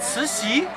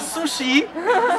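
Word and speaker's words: Cixi: 1894 pour l'impératrice doirière suci c'estit la dernière impératrice prononcez bien que c'est ceci c'est pas souci parce que sushi c'est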